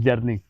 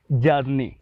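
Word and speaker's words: journey: तो अगला जो वर्ड है वो है, हम लोग प्रोनाउंस करते हैं जर्नी। तो ये जो वर्ड है ये जर्नी नहीं होता, इसको अंग्रेज़ लोग जो बोलते हैं वो है बोलते हैं जर्नी।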